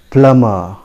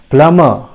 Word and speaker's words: plumber: session the word is plummer it is plumber again b is silent here we don't pronounce v the letter b is silent remember it is pronounced as plummer the correct pronunciation is